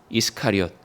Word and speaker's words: 이스카리옷: 가롯, 가룟이라고도 읽죠. 이것을 헬라어로는 이스카리옷이라고 읽습니다. 이스카리옷. 그러니까 좀 빨리 읽으면 가룟이라는 말처럼 들리기도 하시죠.